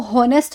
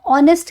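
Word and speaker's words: honest: जैसे इसको हॉनेस्ट नहीं कहते हैं, इसको क्या कहते हैं, इसमें एच साइलेंट होता है, इसको हम ऑनेस्ट कहते हैं, ठीक है।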